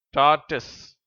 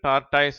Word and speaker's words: tortoise: டார்டஸ். டார்டஸ். இதை இந்தியர்கள் டார்டாய்ஸ் என்றும் உச்சரிக்கிறார்கள்.